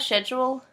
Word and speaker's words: schedule: Well, my parents used to get on me that, and then I started pronouncing it the right way. Schedule. Well, the Australian way.